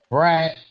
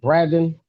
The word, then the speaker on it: Braden: Oh, and and what they have my name wrong is uh Brad. How do they pronounce it? Braden. Braden. Love.